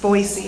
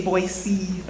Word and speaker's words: Boise: Um, also I heard it's pronounced Boisey, not Boisey. It's Boisey. If you want to like fit in, say Boisey.